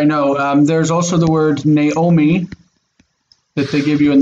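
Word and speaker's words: נעמי: There's also the word Naomi that they give you in the book where they show this. They say it's Naomi, Naomi. I read it still as Noomi, Noomi.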